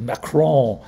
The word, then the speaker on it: Macron: if it's spelled m-a-c-r-o-n this n is never pronounced it's necro and you